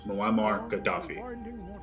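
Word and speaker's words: Muammar Gaddafi: see what you're saying I got the last name wrong so it's muamar Gaddafi first name moamar last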